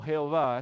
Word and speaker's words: Jehová: Y como les he explicado en la introducción al libro de Deuteronomio, Yahvé o Jehová, escuchamos Jehová, es otra pronunciación.